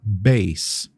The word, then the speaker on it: bass: sabe Então vem comigo a semelhança é que a gente escreve essas palavras da mesma forma como eu vou colocar aqui embaixo b a s s mas elas têm pronúncias diferentes dependendo do que elas querem dizer baixo instrumento ou notas GR ou então bumbo da bateria a gente fala base por exemplo Electric base baixo elétrico que é aquele